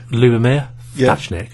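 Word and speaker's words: Ľubomír Ftáčnik: how would you pronounce his name, Paul? Lubomir Thatchnik.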